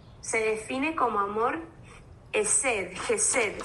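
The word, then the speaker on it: hesed: define como amor esed jesed se escribe h e s e d el amor jesed que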